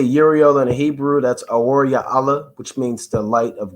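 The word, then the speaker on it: אוריאל: That's Aor Ya'ala, which means the light of God or the light of the Most High.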